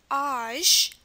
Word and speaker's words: âge: The sound is âge. Âge, remember the A with two dots? It makes the ah sound, and the ZH makes the j sound.